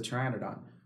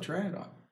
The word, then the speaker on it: pteranodon: And like, oh, it's a pteranodon. Well, how do you spell pteranodon? Well, it has a silent P in it, right?